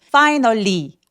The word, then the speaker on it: finally: Finally 아니고 finally. finally 강세 주고 나머지 음절은 들리긴 들리는데 너무 세게 주지는 마세요.